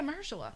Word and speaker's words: Mahershala: Yeah, Mahershala. Mahershala. That's how you're supposed to say it.